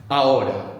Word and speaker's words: ahora: Ahora. The H is silent, so it's A-H-O-R-A.